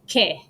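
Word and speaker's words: que: when it's silent uh q-u-e means what and it's ke you don't hear ooh sound at all in that word all right that's oo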